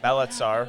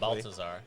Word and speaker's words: Balthazar: oh Jesus or a uh balatzar hopefully I pronounced that correct Balthazar Balthazar thank you I got to